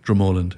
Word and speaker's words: Dromoland: So from, I'm going to say it wrong, Dromoland Castle? How do you say that, right? Dromoland, yeah. Dromoland.